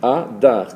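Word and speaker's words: אדר: s'écrit, donc vous savez, Adar, c'est Aleph, Dalet, Resh. Aleph, Dalet, Resh. Adar, Adr. Mais pour prononcer Adar, il faut forcément mettre en dessous de la consonne Aleph un symbole qui va la rendre A.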